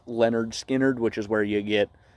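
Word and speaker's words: Lynyrd Skynyrd: It's pronounced Leonard Skinnerd, which is where you get, Simple Man and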